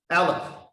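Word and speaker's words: אלף: It pronounced Aleph.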